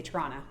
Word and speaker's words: Toronto: the end for Canadians we get lazy and we don't pronounce the T at the end we say Toronto or you know if